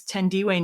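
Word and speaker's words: Thandiwe: meeting his own wife, actress Tendiway Newton, who you may also know as Tandy Newton because she also is an actress whose name was mispronounced for a long time.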